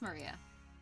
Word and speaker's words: Maria: It's pronounced Maria.